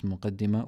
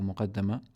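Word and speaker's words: مقدمة: Okay, so alhamdulillah, last week we went through the muqaddimah of this text, and we said the word is pronounced as muqaddimah or muqaddama, both pertaining to the introduction, the first sort of madkhal, the entry to the text.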